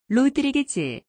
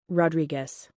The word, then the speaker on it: Rodriguez: 우리 발음으로 먼저 들어보고 영어로 들어보도록 하지요. 로드리게즈, 헤르난데즈, 몽고메리, 맥도날드, 라미레즈, 곤잘레스 모두가 한국식 발음이고요. 미국식 발음은 다음과 같습니다. 들어보시지요. Rodriguez, Hernandez, Montgomery, McDonald, Ramirez, Gonzalez.